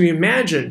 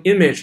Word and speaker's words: imagine: Alright，这个地方呢有一个单词，You're asked to imagine，注意这个单词不要读成 image 了啊，它是 imagine 动词。You're asked to，这个 ask 的